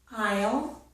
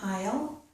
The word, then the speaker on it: aisle: This is aisle. This is also aisle. These two words sound exactly the same. The letter S is not pronounced.